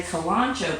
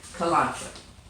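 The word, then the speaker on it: Kalanchoe: not be any easier and that is a kalonzo plant and that is spelled ka LAN CH o e kolache and then the plants that I like are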